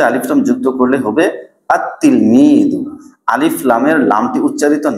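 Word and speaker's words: التلميذ: আতলমিদ তিলমিদুন থেকে আতলমিদুন উচ্চারণে যদিও লামটি আসবে না তবে লেখায় অবশ্যই লামটি আসবে যেমন আততিলমিদু থেকে যেমন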